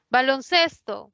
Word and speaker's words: baloncesto: Baloncesto, proviene de 2 palabras, balón y cesto. Ninguna, bueno, balón sí lleva tilde, pero acá ya no, porque cuando forma la nueva palabra, la mayor fuerza de voz ya no está en balón, Está en ses, baloncesto.